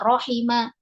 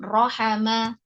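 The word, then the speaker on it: رَحِمَ: Ya, bagaimana kalian tahu kalau ini adalah bacanya rohima, bukan rohama?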